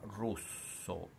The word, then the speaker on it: rosso: per genere e numero per esempio la parola rosso pronuncia con la o chiusa rosso così anche al femminile